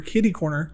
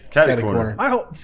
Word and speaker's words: catty corner: We're kitty corner. Bringing it back to it's not kitty corner. catty corner. I thought it was cat.